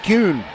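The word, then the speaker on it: Kuhne: to9 and Kate cun will go and serve pronounces her name like former Major League Baseball commissioner Buie cun but she has an e in her last name and he didn't all right fure returning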